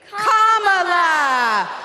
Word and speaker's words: Kamala: First, you say comma like a comma in a sentence. Then you say la like la la la la la. Put it together and it's 1, 2, 3, Kamala.